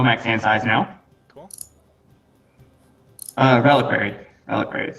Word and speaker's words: Reliquary: Reliquary. That's how you pronounce it.